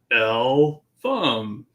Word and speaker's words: Eltham: that my whole life people just can't pronounce eltham right when i was a kid i used to go it's l thumb you know that i'm